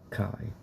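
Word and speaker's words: Kei: name is kai is as the boy's name is spelled k e i kai so yeah as naruto as susan you know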